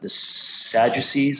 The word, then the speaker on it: Sadducees: There's the Pharisees, the Sadducees, I believe you pronounce it.